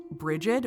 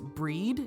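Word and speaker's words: Brigid: associated with the goddess bridgid or that's kind of the current name for her but I think it's breed is how you say it I don't know too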